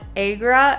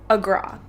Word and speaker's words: Agra: So on the train ride here, a local told us that it's not Agra, it's Agra.